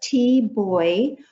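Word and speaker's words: Thi Bui: to pronounce her name, is T, and the last name, it's like Life Boy, and I'll probably go back and forth. I'll do the best I can to pronounce it properly. But T Boy was born in Vietnam.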